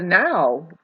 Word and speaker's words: know: why we know that the K is silent in the word no no it's now